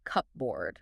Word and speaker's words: cupboard: This literally started in the Middle Ages as a cupboard, like a physical board or table where you stored your cups.